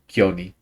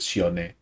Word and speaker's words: Sione: and that whole family, they all call him Kioni. Um, yeah, mhm. Yeah. So it's important to pronounce it Sione, like how it's pronounced in yeah.